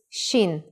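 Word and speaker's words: שין: gurgling water in print the next letter is shin with a sound of sh and it looks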